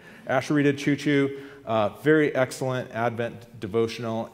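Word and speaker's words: Asheritah Ciuciu: author's name right it's ashita Chuchu okay no joke just like the train Asher Chuchu uh very excellent Advent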